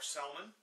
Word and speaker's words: salmon: Salmon or Selman, as it's pronounced.